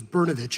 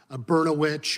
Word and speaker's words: Brnovich: I think it wasn't until the 4th grade that I realized my name was Brnovich and not Bernowich or Brontosaurusvich or any other words that rhyme with that.